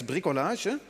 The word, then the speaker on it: bricolage: could call this as a French call it bricolage did I pronounce this right P it's bricolage so so do it yourself if nobody else